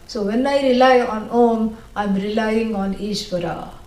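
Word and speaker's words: ॐ: A, U, But you're not supposed to say like that. No. Unless you have TMJ. If you have some kind of jaw problem, then people will say Aum. Nobody should say Aum. Yeah, that's wrong. You should never come in between the words which are joining to make a new syllable. A plus U, O, Om. And neither should you drag it.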